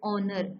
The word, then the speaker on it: honor: Like when we write word honor, Honor. So here honor is H is silent.